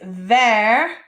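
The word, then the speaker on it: vert: the next one is ver ver green there and a little fun fact there how i wrote it out how it sounds is glass in french okay and now our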